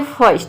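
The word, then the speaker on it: first: यदि किसी वर्ड में आई के बाद आर हो तो वहाँ पे आई को हम अप्रोनाउंस करते हैं। जैसे कि देखिए यहाँ पे है शर्ट, तो शर्ट में आप देख सकते हैं कि आई के बाद आर आया है, तो यहाँ पे आई का जो प्रोनाउंसिएशन है वह अ आ रहा है।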